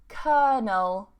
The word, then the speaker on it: colonel: So here, this one we have, again, a silent L and a silent O. And we say colonel, colonel, colonel. Okay, I hear colonel a lot.